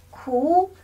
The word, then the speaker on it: 苦: 哭，苦，苦，酷。